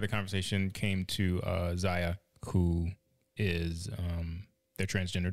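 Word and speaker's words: Zaya: that when kai was i'm pronouncing the name right now i don't know why if i said kaya oh yeah my bad so ziya when she was three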